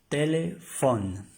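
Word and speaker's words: téléphone: esta regla hacer efecto para que nos dé el sonido de una F como en el español tele pH t h telefon telefon telefón si ven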